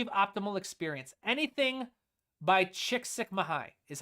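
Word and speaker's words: Csikszentmihalyi: Anything by Chickik Sukmahai is how you pronounce that.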